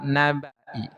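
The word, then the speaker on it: نبإ: satu kata, satu kalimat nabai. Tapi membacanya di sini bnya itu harus dibaca pendek. Hati-hati bnya dibaca pendek. Lafaz min nabai hati-hati bnya dibaca pendek gitu ya.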